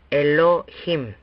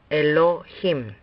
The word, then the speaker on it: Elohim: Por lo tanto, leeríamos esta palabra como Elohim. Lea una vez más, Elohim.